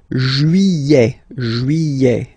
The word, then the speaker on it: juillet: Okay, you get this double L here. Juillet. Don't pronounce this final T, E-T here at the end.